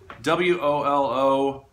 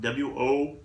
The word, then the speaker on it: Wolowiec: Moving along, I have to use my cheat sheet because I can't quite pronounce this woman's name. It's Margo Wolowiec. So Wolowiec. Margo Wolowiec.